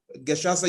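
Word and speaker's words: Gacaca: they call as the Geshasa system. Geshasa is spelled as Gecaca, where the community sat down, the community created elaborate intentional structures that got to adjudicate over criminal issues.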